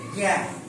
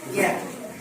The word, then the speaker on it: জ্ঞান: শব্দ যদি বলি প্রজ্ঞা প্রজ্ঞান উচ্চারণটা কেমন পাচ্ছি জ্ঞান উচ্চারণটা কেমন হচ্ছে জ্ঞান প্রজ্ঞান বরক যে উচ্চারণ হচ্ছে নাকের উপর দিয়ে